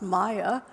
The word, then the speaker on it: Mae: In Swedish it's actually pronounced Maya.